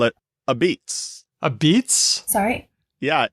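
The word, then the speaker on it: apizza: Yeah, it's from a probably Neapolitan dialect of Italian where la pizza or una pizza goes shortened to a pizza. And then because there's lenition for that final syllable, and the P is, those labial sounds do whatever the hell they want. So those other transformations came up, and it's a beets.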